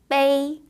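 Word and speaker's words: 悲: 슬플 비자 그러니까 우리의 훈음으로는 슬픔을 빗자루에 중국어 발음으로는 Bay 라고 발음을 하고요 슬프다 슬퍼하다라는 의미를 가지고 있습니다네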